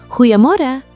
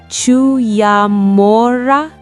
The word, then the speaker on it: Goeiemôre: "Goeiemorgen," she called out. Elias froze. He quickly flipped open his notebook to the pronunciation guide, the guttural G at the front and the U that sounded like oo. "Goeiemorgen," Elias attempted, feeling the